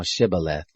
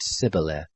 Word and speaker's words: shibboleth: they said to him say now shibboleth and he said sybileth for he couldn't manage to pronounce it right then they laid hold